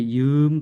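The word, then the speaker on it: ยืน: 자, 이 발음이 이은 발음입니다. 이은 Y 발음.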